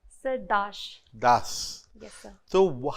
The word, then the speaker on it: Dash: major to distinguish yes but the pronunciation is the same it is Dash yes yes Das is